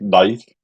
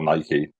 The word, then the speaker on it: Nike: It's like Nike, or Nike, depending on how you say it. I'm a Scout, so I say Nike.